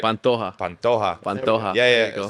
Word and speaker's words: Pantoja: Yeah, and then another fight that I just want to note, obviously you got Alex Perez and Alexandre Pentojo. Did I say it right? Pantoja.